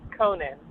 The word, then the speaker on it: Keenan: and then um keenan is it keenan how's your last name pronounced it's actually pronounced conan conan conan is